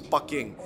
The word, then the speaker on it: Peking: talking about peking duck now why is it called peking because it's based off the cantonese pronunciation of beijing which is bucking anyway here at mr